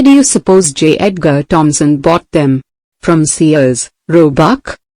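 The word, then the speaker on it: Thomson: J. Edgar Thompson, pronounced Thompson, was the president of the Pennsylvania Railroad then.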